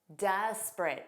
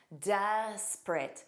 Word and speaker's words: desperate: Desperate. Where's the silent vowel? It's that middle e because again, you just hear this as two sounds. Desperate.